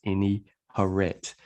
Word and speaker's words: Ini-Herit: you know what i mean if you can't pronounce it but it's any horret so um i'm a member of this issue